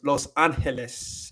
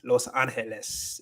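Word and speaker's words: Los Ángeles: It's not Los Angeles because there is an ah, and the ah makes the ah sound and not the oh wait, yeah, not the o sound. So it's Los Angeles. Los Angeles is how you say that.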